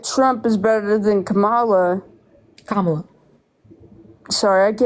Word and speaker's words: Kamala: Kamala. Sorry, I fucking listen to these fucking Republicans all day say her name wrong, and then I say it wrong. You're good. I think with the accent, Kamala.